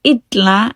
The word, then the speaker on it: illa: Second of all, the E in illa and illur is pronounced more like the letter E, as seen in bíll and ridstíll.